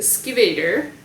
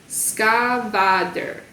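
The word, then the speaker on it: Skvader: The Skivator. It gives it how to pronounce it. It's just as complicated to read as the original. Skavader. Well, that does sound a little bit better than Skivator.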